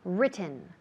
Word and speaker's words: written: written yes very good written written all right on the first syllable written written is no